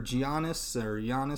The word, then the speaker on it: Giannis: In those cases, I mean, look at Kawhi Leonard or Giannis is actually how you say his name.